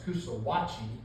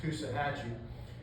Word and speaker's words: Coosawhatchee: which I thought was, the way it's spelled, I thought it was Coosawhatchee, but it's actually pronounced Coosahatchee.